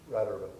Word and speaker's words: Rad Urban: Our second panelist is Randy Miller from, is it RAD or RAD? How do you like it pronounced? Rad Urban. Rad Urban, okay.